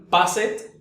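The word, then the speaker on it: passed: yo quisiera pronunciar aquí passet stayed started sin embargo de las tres solo una es la correcta la primera su sonido al final es el de una t es T T O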